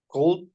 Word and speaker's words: could: okay yeah another example can you read this ver model one could could could the L is silent before the last letter another